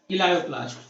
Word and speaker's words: इलायोप्लास्ट: जिसमें पहला आपका है इलायोप्लास्ट। First number ELAIO, इलायो, PLAST, देख लीजिएगा स्पेलिंग, ELAIOPLAST, इलायोप्लास्ट।